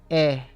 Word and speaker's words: he: It's spelled H-E. And of course, we have the silent H there from haber in Aber.